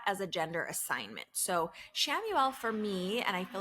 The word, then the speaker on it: Chamuel: The Hebrew origin is spelled Khamuel, Chamuel, and we say it Chamuel, or you can say it however you like I said.